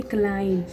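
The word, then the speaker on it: climb: जब भी आपको एम के बाद बी दिख जाएगा तो हम क्या है उसको बी तक प्रोनाउंस नहीं करेंगे, क्योंकि बी हमारे यहाँ पर साइलेंट लेटर है। खाली CLIM यानी क्लाइम।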